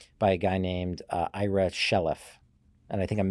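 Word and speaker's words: Chaleff: the courageous follower by a guy named IRA shelff and I think I'm mispronouncing his his last name ch a l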